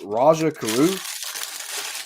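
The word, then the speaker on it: Rajah Caruth: xfinity series roger okay tell me how to say this name because i'm going to screw it up is it rajaroo yeah that was good that's it okay all right so roger carruth made his xfinity series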